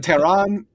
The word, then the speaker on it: Tehran: to like plaster Tehran, I got to stop pronouncing the khs in that like it's an Arabic word, because it's not, and I don't actually know how to pronounce it in Persian.